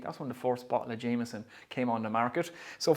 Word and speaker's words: Jameson: history on jameson or jensen as we pronounce it here just say everything fast and it sounds like you're in ireland so jameson was founded by john jameson in 1780.